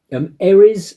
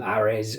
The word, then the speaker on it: Ares: Tron movie uh Tron ARS I'm going to call it um it's the Greek god of of war and looking on Google seems to be you can pronounce it either arz or ar um Tron arz sort